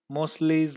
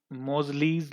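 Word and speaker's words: Moseley: एक था मोरेज लॉ, अभी ओ सॉरी मोस्लेज लॉ, एक्चुअली मोजलीज लॉ बोलते हैं इसको, ये गलती से प्रोनाउंसिएशन हो जाती है।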